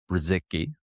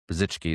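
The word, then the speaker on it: Brzycki: It's edited by Matt Brziki. Brzichki. Brzzichki is actually the the pronunciation. It's it's a Polish last name.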